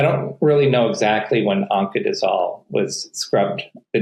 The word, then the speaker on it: Oncadizol: Oncanz- Oncadizol. O N C A D I Z O L. It's like oncologist. Just like oncologist, only you add the end of fenbendazole, oncadizol.